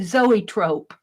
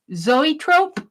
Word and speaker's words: zoetrope: ope I have no no idea how to pronounce that I say zoetrope zoetrope and the answer is it's a pre cinematic